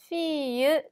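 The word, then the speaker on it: fille: 아예 없죠 그 다음에 밑에 있는 딸이 라는 단어는 에리 2개나 들어가 있음에도 불구하고 앨 발음은 거의 나지가 않습니다 마치 c1 처럼 발음 해주시면 됩니다 자 이 단어는 요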